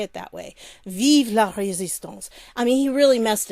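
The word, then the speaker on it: vive la résistance: messed it up but he didn't say it right because it's vive with an e at the end and then it's instead of l e it should be la la resistance so i'm sorry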